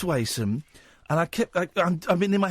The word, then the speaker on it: Wason: Now it's Wason. Thank you so much for pronouncing it right.